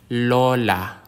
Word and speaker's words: Lola: halaman is a plant the consonant L like the L in lamp Lola Lola a Lola is